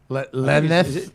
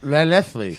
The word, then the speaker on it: Llanelli: It's Lallanelli. Llanelli.